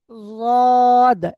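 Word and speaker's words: ضاد: জদ, এই জদটা কোথা থেকে উচ্চারণ করবেন? জিভের কিনারা এবং মাড়ির দাঁতের মাড়ির উপরের দাঁতের গোড়ার সাথে লেগে, উপরের মাড়ির দাঁতের গোড়ার সাথে জদটা উচ্চারণ হবে।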